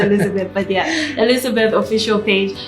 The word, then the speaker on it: Elisabeth: I'm pronouncing Elisabeth so people know it's with an S. But it's still pronounced Elizabeth.